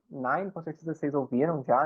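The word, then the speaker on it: nein: E aí ela está dizendo nine, esse EI aqui, igual eu falei, tem o som de I, nine, com certeza vocês ouviram já, né, que é não em alemão.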